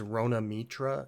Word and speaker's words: Rona Mitra: But they did have, I think it's Rona Mitra is how it's pronounced.